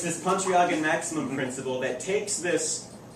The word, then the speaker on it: Pontryagin: pronounced it correctly and better than I pronounced your last name. Oh, sounds good. So it's this Pontryagin maximum principle that takes this idea of optimizing